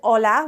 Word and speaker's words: hola: there's an H but we never pronounce the h when it's at the beginning of a word in espanol it's always silent so the the letter